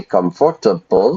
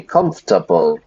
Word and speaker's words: comfortable: are very lazy so we look look at the word comfortable but we don't say comfortable we squeeze it we squeeze the syllables into three comfortable I understand if you're